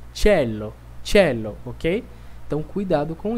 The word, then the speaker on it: cielo: ir muito forte né Eu não disse Cielo que eu disse tchelo tchelo OK então cuidado